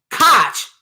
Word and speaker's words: Koch: Oh, yeah, I know it's pronounced Koch brothers, but I don't even like to say it like that.